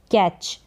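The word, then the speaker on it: catch: word का यूज होगा कैच सी ए क और यहां पर जो है च करके उच्चारण सी एच का हो रहा है लेकिन टी का साउंड नहीं है तो यह साइलेंट है कैच फिर बीट किसी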